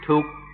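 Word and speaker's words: ทุกข์: In Thai they pronounce it tuk, tuk, and this is a word everybody knows.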